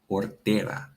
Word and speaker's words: hortera: Recuerda que la H es muda. We pronounce this one hortera.